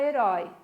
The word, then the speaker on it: herói: exemplo a palavra herói Qual é a sílaba tônica da palavra herói a última né lembrem-se que numa aula